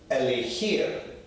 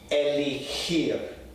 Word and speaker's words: elegir: So this word here, elegir, means to choose, right? So listen for the sound, the very guttural sound. Elegir, elegir, okay, means to choose.